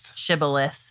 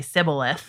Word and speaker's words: Shibboleth: Shibboleth. But likely because there was some sort of difference in dialect between the two tribes. They could only say Sibboleth. Yeah. They couldn't pronounce it right.